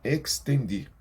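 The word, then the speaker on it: extendí: Por quanto llamé, e não quisisteis oír, extendi. Quando tem um X, nessa posição semelhante aqui no estendi, você vai falar esse X muito bem pronunciado. Extendi. Extendi mi mano, e não houve quem atendesse.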